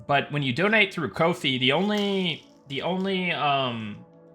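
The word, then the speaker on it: Ko-fi: But, uh, but yeah, um, Kofi rhymes with no fees.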